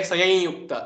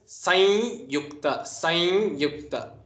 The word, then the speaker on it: sanyukta: the swara u so you shouldn't say sayayukta it is sanyukta Now, avagraha, which is